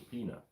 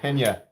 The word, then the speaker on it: Pena: Ryan Butler wants to see your peanut. Where's the peanut? What's a peanut? Oh, the peanut. So I'm sorry, my brother doesn't know that this is a pena. It's actually pronounced pena knives.